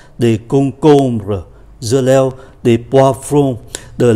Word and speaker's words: concombre: Và chúng ta để ý khi phát âm ký từ M thì phát âm là N, bởi vì đứng trước B. Khi đứng trước B và P thì ký từ M được phát âm như là N. Do đó chúng ta tưởng tượng như là có hai chữ N, de concombre, dưa leo,